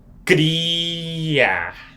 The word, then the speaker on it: criar: This one, criar. Criar. It starts with the hard C because it does not start on the beginning with its cedilha R, which is one of the rules that I talked about.